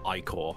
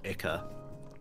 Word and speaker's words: Ior: it's kiten also uh ior is pronounced iore not ier boo ier is fun